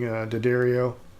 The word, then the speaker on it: D'Addario: of strings I'm using daddario or d'addario they pronounce it both ways but they always come